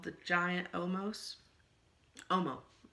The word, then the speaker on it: Omos: He's called the Giant Omos. Omo. The Giant Omo. S is silent.